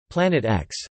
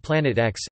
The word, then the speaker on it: Planet X: The X in the name represents an unknown and is pronounced as the letter, as opposed to the Roman numeral for 10.